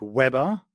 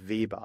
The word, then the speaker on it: Weber: Yes, it was quite good because I think in America it's pronounced like Weber with double B, but in Germany it's like Weber, so it was quite good.